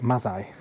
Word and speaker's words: Mazzei: the Galleon bar downstairs, were designed by Andrew Mazzei. Now I've got the pronunciation of that right, I was panicking about that.